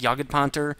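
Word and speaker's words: Jagdpanther: tradeoff um and that the way I'm saying that tank yaged ponter is the German pronunciation so I'm not saying it wrong ponter with no h is the way the Germans say it so if you don't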